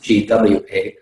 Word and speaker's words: gua: areas are called the gua it's it's pronounced uh so it's pronounced gwa but it's spelled g-u-a and um in this